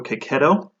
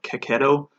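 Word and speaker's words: Checchetto: he was introduced as Marco Coquet oh so that's why I'm pronouncing it but I really like Marco Coquet oh he's done several of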